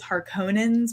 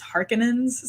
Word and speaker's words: Harkonnen: in the movie like in the audiobook it was harkonnen's but then in the movie it was harkins so i keep like